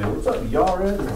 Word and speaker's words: Jared: It looks like Jared, right? How would you say it in Hebrew? How does, huh? Yared, yeah, very good. So Yared, or, yeah, it means shall come down or shall descend.